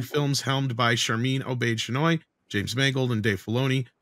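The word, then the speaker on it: Chinoy: Shinai. Just remember that the final word rhymes with annoy.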